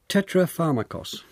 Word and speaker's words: tetrapharmakos: David Sedley, Epicurus encapsulated his core beliefs in a formulation known as tetrapharmakos. Is that how you pronounce that it?